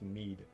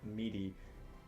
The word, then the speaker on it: Med: I think I'm pretty sure it's pronounced Mead. Is that Mead? It's MED or MEDE. Yeah. Oh, Mead. Yeah. Well then Mead. I'll do that. I'll do that as well. Okay. Because I'm pretty sure last time you pronounced it meaty.